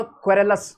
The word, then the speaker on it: querulous: Pronunciation थोड़ी सी बदल जाएगी, यहां पर होगा क्वेरलस और वो होगा क्वेरलसम, बट मीनिंग सेम ही होता है।